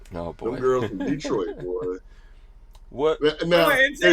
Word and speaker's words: Detroit: Detroit. It's not Detroit. It's Detroit. Not Detroit.